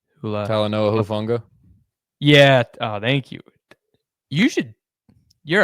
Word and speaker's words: Talanoa Hufanga: Talanoa Hufanga. Yeah. Oh, thank you. You're a translator. Talanoa Hufanga.